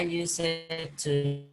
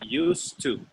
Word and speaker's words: used to: I used to love playing I basketball used to. with. Arturo, I don't used don't to say love don't say play. use it to. Say used to. 2 syllables.